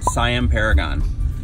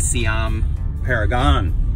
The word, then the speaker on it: Siam Paragon: we are going to Siam Paragon is that is how we say it but see I'm Paragon is how they say it they just don't sell